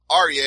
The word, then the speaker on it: Arya: I'm pretty sure it's Arya, and you said Area, so I went with it, but it's actually Arya.